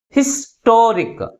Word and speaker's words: historic: But which syllable is pronounced with a greater force? That is second syllable. Toric. Historic.